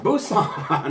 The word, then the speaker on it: Busan: korea's second largest city it starts with a b it rhymes with rusan busan oh yeah that's right